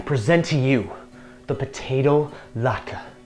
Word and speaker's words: latke: My friends, I present to you the potato latke, pronounced latke.